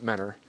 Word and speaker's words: Mentor: Mentor, we pronounce it Mentor.